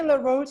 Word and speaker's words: LaRoche: And Dani LaRoche is an author, and she published a book about loneliness on Amazon.